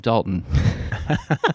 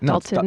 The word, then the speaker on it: Dalton: I know most people pronounce as Dalton, not Daltton. It's Dalton. There's no It's Dalton like mountain.